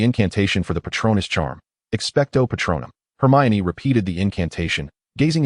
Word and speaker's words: Expecto Patronum: Expecto Patronum. Hermione repeated the incantation, gazing expectantly at Kreena. No, that's incorrect. He shook his head. You must pause in the middle and elongate the final syllable.